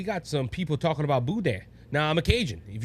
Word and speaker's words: boudin: It's boudin.